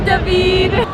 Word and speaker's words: David: We love you, Davidid. That's my name. Deed is how it's pronounced with the Russian accent.